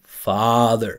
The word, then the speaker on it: father: I'm saying father father and that's why it looks smooth and natural because if you make mouth movement from the front father father it does not look or sound natural right but back here father father father smooth natural and cool.